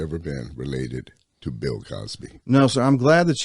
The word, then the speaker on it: Causby: I always had to say my name's Cosby spelled c-a-u-s-b-y no relationship all right all right